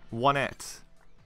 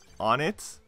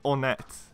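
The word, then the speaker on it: Onett: and one of my friends decided to say one at and I called him out on it so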